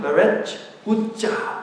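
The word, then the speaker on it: 베레스웃사: 다윗은 이 일로 인해서 그것을 11절 베렛, 정확한 발음은 베렛 웃자, 베렛을 웃사라고 칭했는데요.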